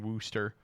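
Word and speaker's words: Worcester: people for not knowing Wooster it's kind of a way to pronounce that all right let's play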